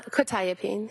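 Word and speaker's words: quetiapine: probably mispronouncing this quetapene. Uh quitapene.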